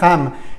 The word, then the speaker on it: ham: ram vale repaso tiroides se escribe con h pero sería ham el sonido súper potente